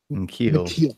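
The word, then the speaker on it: N'Keal: of love for uh I'm gonna pronounce this name wrong K Neil Neil Harry q what is it in keel in keel I switched the end anything in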